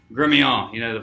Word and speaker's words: Gremillion: You're not from down in my parts, and it's Gremillion. The French. You got to add the French to it, but it's spelled Gremillion, so I get that a lot.